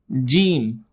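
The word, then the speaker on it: ج: The next alphabet is gimm gimm. It sounds like a gym but here you need to stretch it a little bit long so you can make perfect sound of gene.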